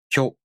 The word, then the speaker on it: きょ: To pronounce Kyo, the tongue moves from the ki consonant to the o vowel. Kyo.